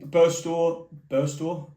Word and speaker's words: Burstow: Burstow, that's how you say it. I keep saying Barstow for some reason, but Burstow, you obviously had different instructions from Tony Mowbray.